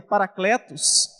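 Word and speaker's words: παράκλητος: A palavra no grego que diz, que se pronuncia paracletos, alguém que se coloca ao lado para prestar ajuda.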